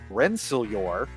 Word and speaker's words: Rensselaer: Wayne Gray and his Cogworks team from Rensselaer, that's how it's pronounced, that's how they told me, came to CTWC for